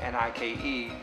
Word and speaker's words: Nike: And I say Nike because back then there was no advertising, and you see N-I-K-E, pronounce it Nike, just like you see B-I-K-E, you're gonna say bike, you're not gonna say bikey.